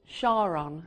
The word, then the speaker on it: Charon: the moon Charon but it must be pronounced Sharan after his wife so okay we get